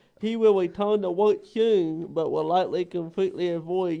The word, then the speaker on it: Suhn: How do you say your last name? Suhn. Soon.